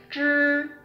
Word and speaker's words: 知: Okay, so first one is 知. Okay, so in standard way, we need to curl our tongue, right? 知.